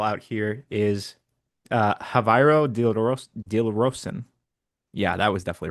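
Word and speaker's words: Javairô: Well, he's Dutch, so I don't know if the J is an H That's sound.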